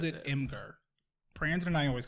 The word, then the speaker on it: Imgur: So I always called it Imgur. Brandon and I always called it Imgur. Jordan calls it Imager. Okay. And Imager feels right. Yeah. But I still to myself call it Imgur.